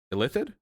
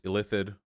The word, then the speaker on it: illithid: all know illithid right illithid illithid illithid illithide illithid illithid i think i think you stress the second everyone loves illithid okay